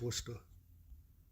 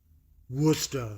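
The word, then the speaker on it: Worcester: It's Worster. Worster. So, W O S T A R H. I mean, that's how you pronounce it.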